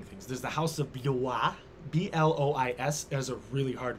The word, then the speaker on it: Blois: There's the House of Blois. B-L-O-I-S is a really hard one to pronounce. Blois. If it was Blois, not a problem. Blois, not so problem. B-L is Blois. It's because it's like pronounced B-L-W-A-H.